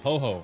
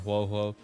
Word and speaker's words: Ho-Oh: But anyway, Ho-Oh, I call her Ho-Oh because Pokemon. I know you guys are pronouncing it Ho-Ho. Ho-Ho.